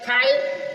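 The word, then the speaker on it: thigh: site रहेगा साई साई मी भरना भरना जी साइलेंट है थाई थाई जान जी साइलेंट है दो दो मस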